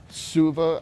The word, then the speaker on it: Suva: That there is this physical therapist right here inside the gym, Suva, I think is how you pronounce it.